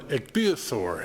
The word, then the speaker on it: ichthyosaur: This may just look like rocks, but these are fossils of an ichthyosaur, is how it's pronounced.